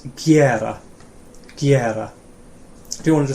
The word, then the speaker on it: gera: do, or to make, really common, and it's gera. Gera. Do you want to just say it back? Gera. Gera. Yeah, gera. And do you want to say it, Rachel? Gera.